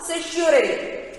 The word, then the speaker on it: certiorari: see here, habeas corpus, second one is the mandamus, third one is the prohibition, fourth one is the certiorari. How to pronounce this word? certiorari.